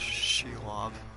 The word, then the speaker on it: Shelob: that's why I wasn't responding to anything it's pronounced Shelob all right thanks for the pronunciation I appreciate